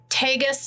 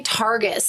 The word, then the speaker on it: Tagus: first one is the gateway to Hell in tus North Dakota and I always want to say Targus and there's no r in